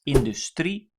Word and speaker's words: industrie: So for instance, industry, that is industrie, and plural is industrieën. So the emphasis is on the final syllable of this word, industrie, and that means I